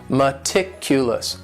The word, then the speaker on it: meticulous: word is meticulous and this word has four syllables and the stress is on that second syllable meticulous meticulous that first syllable also has that schwa that a sound that reduced Val sound meticulous this is another word